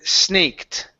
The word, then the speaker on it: snaked: Um, next up is uh the word snaked right here. Snaked. Snaked. Oh, with the t sound at the end.